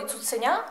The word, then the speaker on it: цуценя: І наголос ставимо на першому складі «куций», а в слові «цуценя» – на останньому.